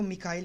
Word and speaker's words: Michael: या डोइच में इसको मिकाइल प्रोनाउंस करेंगे।